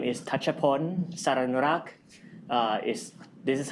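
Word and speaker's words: Thatchaphol Saranurak: Um my name is Tatapon. Sarinurak uh is this is how it's pronounced but whatever you pronounce I don't mind.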